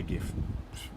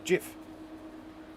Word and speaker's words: GIF: I will always say GIF. Nothing you can say to me to make me say otherwise. I know that the creator always intended that it be pronounced GIF.